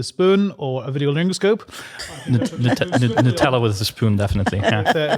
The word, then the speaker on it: Nutella: Um I would say my favorite uh my favorite my favorite dessert is Nutella and it needs to be pres pronounced as Nutella, not Nutella as some listeners may not be aware of.